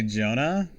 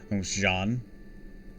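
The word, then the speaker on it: Jeanne: name for fun well I used to say Jonah because of a Yu-Gi-Oh card but uh I've been recently having to correct myself so Jean cuz originally I'd always hear Jon of Arc but now it's uh but more recently I've always heard it pronounced Jean oh yeah that guy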